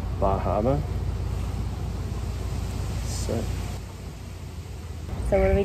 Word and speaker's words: Bar Harbor: Oh, it's freaking Bar Harbor. You're saying it wrong, that's why. Bahama?